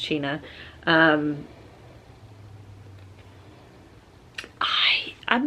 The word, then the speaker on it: China: The Adventures of China iron and it is pronounced China um I I'm not ready I wasn't I